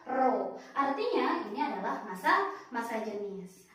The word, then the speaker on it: rho: Kita bacanya dibaca rho. Oke, simbolnya adalah P miring, dibacanya adalah rho.